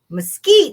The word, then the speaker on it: mesquite: pod matsiki better but easy on the s he sighs don't tell me i've got to run some kind of pronunciation lesson now say again mesquite mesquite mesquite let's move